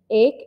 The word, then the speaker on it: ache: His arms began to ache, and he My he has head ache.